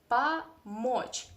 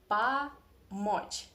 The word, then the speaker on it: помочь: I mean, if O is in unstressed position like here, we have two O, помочь, but the first one